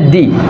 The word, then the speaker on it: the: তো হচ্ছে আমাদের ভাওয়েল সাউন্ডের আগে সবসময় আমাদের মনে রাখতে হবে, ভাওয়েল সাউন্ডের আগে সবসময় আমাদের THE এর উচ্চারণ হবে দি, আর কনসোনেন্ট সাউন্ডের আগে আমাদের হচ্ছে সবসময় THE এর উচ্চারণ হবে দা।